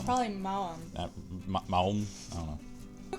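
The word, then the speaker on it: Maoam: All right, so it's Ma'awan. No, Ma'awam.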